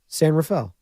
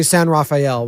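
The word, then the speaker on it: San Rafael: s Rafel for me S Rafel Oh I thought somebody you want me to say San Raphael which is how how I would pronounce it San Raphael uh cardi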